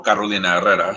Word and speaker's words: Carolina Herrera: Just worked for Gucci and Cavalli and at Carolina Herrera, or Carolina Herrera, which is the right way to pronounce it.